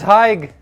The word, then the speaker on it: Haig: My name's Haig. Debbie. Nice to meet you, Debbie. Hi, what's your Haig. How do you spell it? It's like h a i g. It's saying hi with a g.